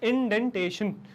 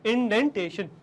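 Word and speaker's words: indentation: इसका प्रोनाउंसिएशन भी लोग गलत करते हैं, इसका प्रोनाउंसिएशन है इंडेंटेशन, कुछ और मत करिएगा, इंडेंटेशन।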